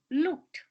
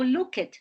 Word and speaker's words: looked: is danced next example looked look is in the infinity form to look in the past tense the pronunciation the appropriate pronunciation is looked looked looked no look it no look looked looked and finally another